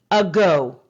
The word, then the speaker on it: ago: g o a go the letter a spells the first syllable uh go it stands for the kind of like a schwa a a go you could say eggo or a go the schwa a sound the second syllable did